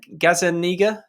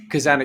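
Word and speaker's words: Gazzaniga: How do you pronounce his name? Gazaniga? I've always just said Gazaniga, Kazaniga.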